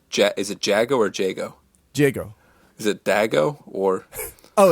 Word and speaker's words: Jago: Jago.